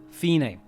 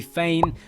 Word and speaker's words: Fine: The boy, Aldo, is waken up by his sister, Fine. And yes, her name is spelled like it should be Fane, but watch the old trailers and it's pronounced Fine, okay?